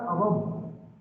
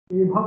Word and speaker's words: above: अबव एभव नहीं बोलते, एभव अबव is that pronounce अबव।